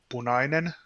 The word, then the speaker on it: punainen: Okay, so can you tell me how to pronounce these, sir? Okay, the red one is punainen, Okay.